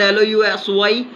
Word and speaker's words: lousy: Now we are talking about the particular word LOUSY. The pronunciation is lousy, but we are saying it loosey and we are going to add it boosy.